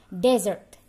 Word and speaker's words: desert: S-nya kita jadikan Z, seperti huruf Z, cara bacanya desert.